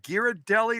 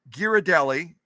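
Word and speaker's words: Ghirardelli: that right is that how you say it giradelli or is it gir giradelli anyway those of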